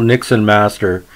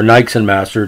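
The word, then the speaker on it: Niksen Master: The great follower of our channel, Nixon Master, or Nixon Master, depending how you want to pronounce it, N-I-K-S-E-N Master, really appreciates the obscure podcasts we're doing.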